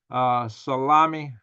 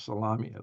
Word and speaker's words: Salami: Revolutionary Guard Commander-in-Chief Hossein Salami, excuse me, not salami. It's almost spelled like it, Salami, had arrived in the area.